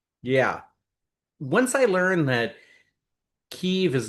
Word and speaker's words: Kyiv: Once I learned that Kyiv is not pronounced Kiev when I was in Ukraine, it's hard for me to hear Kiev anymore.